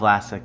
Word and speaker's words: Vlasic: So just the, what is it, Vlasic? Is that how you say it? Vlasky? Oh, I can't see. Vlasic? Oh, Vlasic, yeah.